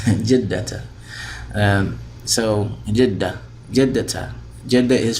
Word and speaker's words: جدة: We don't pronounce that with Judda. Jiddata.